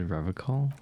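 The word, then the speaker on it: Revachol: He pronounces Revacol with a hard K, unlike other people. You You said Revacol.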